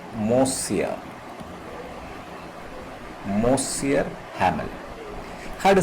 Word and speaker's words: Monsieur: It is pronounced as Monsieur.